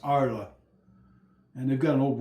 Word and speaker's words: Arles: his paintings was in it's spelled like Arles A R L E S but it's pronounced Arla and they've got an old Roman coliseum there and it's warmer.